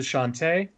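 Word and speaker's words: Chauntea: easily find your way towards the temple to shantae i love that game and it's yeah it's spelled c-h-a-u-n-t-e-a oh cool um this is an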